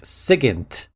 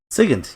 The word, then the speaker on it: Sigint: There is no second N. It's Sigint. Sigint, yeah. Sigint, okay. And it took me a long freaking time to pronounce it right.